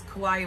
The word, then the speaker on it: kawaii: box in kauai um it's spelled like hawaii but it's kawaii with a k and for most people